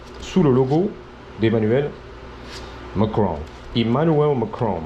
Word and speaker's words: Emmanuel Macron: Emmanuel Macron, c'est comme ça qu'on prononce ici. Emmanuel Macron.